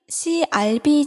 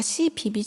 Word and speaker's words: CRB: 시세표 맨 아랫단에 표시한 CRB 지수 1967년에는 이게 100이라는 것을 뜻했다고 적혀 있는데 제가 아까 cbb 지수라고 읽었는데 잘못 읽었습니다 커뮤니티 리서치 로리아라고 crb라고 읽어야 되는데요 미국의 본사로 된 국제